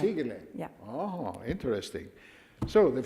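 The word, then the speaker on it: Sighele: Is Sigele the right pronunciation? Sigele, almost right. Sigele.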